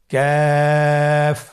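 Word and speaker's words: ك: আবার বলুন ক্যাফ। কাফের মাখরাজ আমরা স্ক্রিনে দেখতে পাচ্ছি। কাফের মাখরাজ হলো জিহ্বার গোড়া থেকে একটু আগে বাড়িয়ে তার বরাবর উপরে তালের সঙ্গে লাগিয়ে উচ্চারিত হয়।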